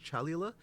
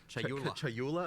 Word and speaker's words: Chayula: The acolyte of is it Chalula? Chayula. I always say this wrong.